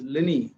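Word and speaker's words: Linné: colon is in fact he's much known as linney in in his own country sweden he's of course if you go to sweden and say lena yes they may not understand it's typical english pronunciation so call lenny or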